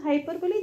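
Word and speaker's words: hyperbole: बढ़ा चला चढ़ाकर बोलना लेकिन स्पेलिंग याद रखना आप दोनों याद रखना हाइपर बोल जब आपको लिखना है तो बोल लेकिन साउंड इज हाइपर बली है ना तो ऐसे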